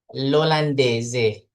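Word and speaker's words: l'olandese: Litaliano lolandeze. Jadi, l apostrofo dibacanya di langsung saja. Lolandez, lingleze begitu. Oke.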